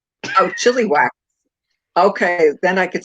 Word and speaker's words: Chilliwack: It's spelled chili whack. What? It's spelled like chili and then whack. Oh, chili whack.